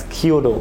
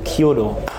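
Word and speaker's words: 弓道: likes, we'll definitely do it I always said Kyodo. Kyudo. Okay, sorry for my Japanese mispronunciations, but you know what I mean After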